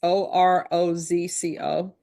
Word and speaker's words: Orozco: There is to be no contact with Dominique Orozco, Diego Orozco. And I know I'm mispronouncing that. It's Orozco. Johanna Rodriguez.